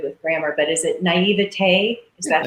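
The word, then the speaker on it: naïveté: you're so good with grammar, but is it naivete? Is that how you say it? Sure, naivete, yeah.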